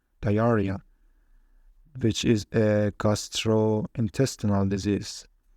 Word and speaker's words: diarrhea: X sometimes pronounced Z, for example, xiphoid, and RH sometimes pronounced R, diarrhea, which is a gastrointestinal disease.